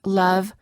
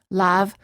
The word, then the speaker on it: love: It's the neutral sound as in love, other, and Monday, which non-native speakers frequently mispronounce as lav, other, and Monday.